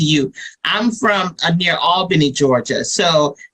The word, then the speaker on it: Albany: I'm from a near Albany Georgia so and I say it properly all Benny Georgia and as well as